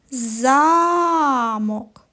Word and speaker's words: замок: інше слово а тепер поставимо наголос на перший голосний звук а замок так правильно фея прямувала до замку цей звук говориться з більшою силою і довготою і він називається наголошеним